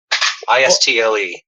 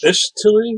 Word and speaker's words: Istle: So, Ishtili? Is that how you pronounce it? Istle. Istle.